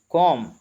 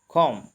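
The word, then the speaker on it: comb: driver मोमबत्ती candle कंकी कोम यहां पे बी साइलेंट है कोम पर्दे करंस कर्ट्स पर्दे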